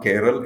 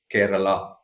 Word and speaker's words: Kerala: it is Karnataka and it is not keral it is Kerala you know so that